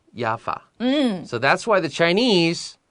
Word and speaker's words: Jaffa: The Chinese name for Jaffa is what? It's Jaffa. Jaffa. And the reason the Chinese is Jaffa is because in Hebrew, which is 希伯来文，希伯来文里 Jaffa is pronounced Jaffa.